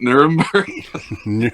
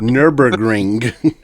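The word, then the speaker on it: Nürburgring: awesome in the uh I can't even pronounce it. Was it Nermber Nurmber? Nurburgring.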